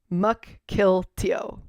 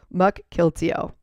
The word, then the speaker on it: Mukilteo: Mukilteo. Thank you for saying that. I knew I was pronouncing it wrong. Mukilteo, Washington.